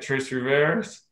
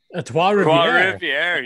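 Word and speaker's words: Trois-Rivières: Trace Rivers. Trois Rivières. Yeah. Oh yeah. So like, wouldn't that be a badass mod? Oh man, we got the Dumoulin brothers in a modified at Trois Rivières with you guys.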